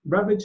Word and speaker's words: Ravlich: Ravlich is the right pronunciation? Yeah, that's correct.